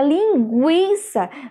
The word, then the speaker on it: linguiça: jeito pelo um juntos e aí na palavra linguiça veja que o nós temos a pronúncia do um vocês agora conseguiram entender gente